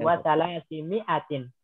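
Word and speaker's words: ثلاثمائة: Alifnya nggak dianggap. Ya, wasalasimi'atin.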